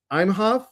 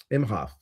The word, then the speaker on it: Imhoff: Is it Lynn? Lynn Imhoff? No, Imhoff. I always pronounce her name wrong.